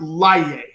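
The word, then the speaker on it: Laryea: nathan's last name was laiye it's oh snap i'll tell you hold on someone just asked that it's uh l-a-r-y-e-a but it's pronounced layer all right so if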